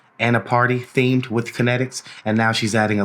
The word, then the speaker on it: KNTXT: It's spelled KNTXT, Kinetics.